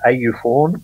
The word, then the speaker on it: AUFORN: We kind of pronounce that as AUFORN. Mm-hmm.